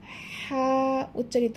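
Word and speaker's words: ح: এই কণ্ঠনালীর মধ্যভাগ হইতে হা উচ্চারিত হবে, একটু হালকা চেপে উচ্চারণ করতে হবে।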